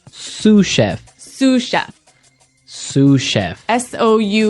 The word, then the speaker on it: sous chef: Um that brings us to our second word, sous chef. Sous chef. Sous chef. Sous chef. S o u s. So the s is silent because it's like a French word.